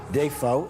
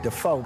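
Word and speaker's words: Dafoe: Half of my family pronounced it Defo. The other half pronounced it Defoe.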